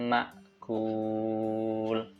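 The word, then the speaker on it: مأكول: Faja'alahum ka'asfim ma'kul.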